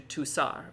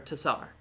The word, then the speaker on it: Tassar: reading that would go, oh, Tessar, French, soft C. You cut out for a second. I did not hear you. Oh, really? Yeah. So what I did? Just the last little bit. Just last. Oh, so I just said French soft C, right? So Okay. so this turns into this, Tukar turns into Tusar or Tassar. Tassar.